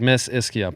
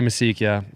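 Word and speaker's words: Mischia: So it's like Miss Ischia, but I say Misikia. Half my family says Miss Ischia.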